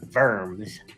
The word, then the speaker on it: Worms: Well, a diet is like a trial and then worms or like the German pronunciation is verms, you know.